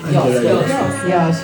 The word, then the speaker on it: Iosue: Come si pronuncia Iosue? Iosue. Così è l'accento.